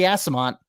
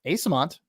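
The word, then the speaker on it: Eyssimont: mikey mikey ice mikey mikey assamont asamon asamont not ass get your head out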